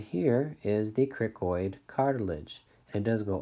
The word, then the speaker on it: cricoid: Some people pronounce it cracoid, either way. But cricoid sounds better to me.